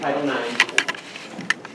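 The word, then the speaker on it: Title IX: that in your packet that's Roman numeral you just pronounce it Title 9 says that schools cannot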